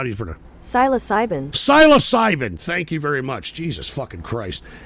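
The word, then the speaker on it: psilocybin: pronounce this here it is pronounce iation of this here is how do you syas cbin syas cybin thank you very much Jesus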